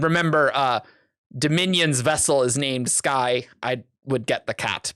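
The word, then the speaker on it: Skai: And remember, Dominion's vessel is named Sky. I would get the cat, but but I think Brandon pronounces it Skay, which thumbs down.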